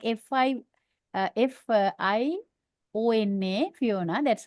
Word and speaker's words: Fiona: going to underline oh that's second Sy yep that's the second syllable now what I'll do